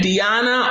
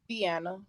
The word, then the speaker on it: Deanna: uh uh uh now how do you say your name diana or deanna deanna deanna okay i appreciate you i